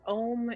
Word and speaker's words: Om: And also its Om is made up of 3 syllables. A, U, and M.